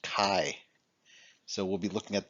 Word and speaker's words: chi: I know it looks like it should be pronounced chai like the T chi-square but it's not it's pronounced Chi so we'll be looking at the chi-square test